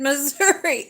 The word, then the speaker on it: Missouri: because a lot of people are known for saying um Missour instead of moury he likes to call